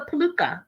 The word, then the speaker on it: peluca: Yeah, it's a peluca.